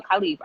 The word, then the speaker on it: Khalif: y'all could clap inside the comment sections for khalifa i said it right correct yeah you said